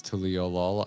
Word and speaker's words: Tuliyollal: Amperature said, if you want another way to pronounce Tuliyollal, I noticed that when Yoshi P pronounces it, it's just the English word trial said with a Japanese accent.